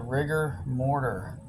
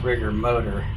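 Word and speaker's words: Rigor Motor: Alright, Volkswagen number 2 going up against the Rigger Mortar. Probably their best chance for modern cars to get another car in. Oh, I guess that's actually pronounced Rigger Motor.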